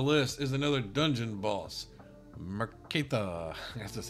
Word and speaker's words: Merektha: Merektha, that's just how you say it.